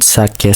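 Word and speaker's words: 鮭: So as you can see in the graphics here in sake salmon, you can see the first syllable has a high pitch and the second syllable has a low pitch.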